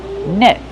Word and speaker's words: net: Use the short e sound like red and bed. Net. Then use a stop t. You can say net, but normally people say net. Just put your tongue up and stop the tea. Stop the air.